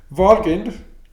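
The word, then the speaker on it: Valgrind: simulator of some kind walking i pronounce it like that because vol refers to valhall of nordic mythology okay walgreen it's it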